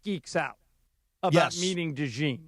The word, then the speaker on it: DeJean: Is that how you pronounce that? Is it Yeah. DeJean or DeJean?